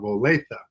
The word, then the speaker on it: Olathe: Everybody pronounces it the way that you do, but the correct pronunciation is Olathe.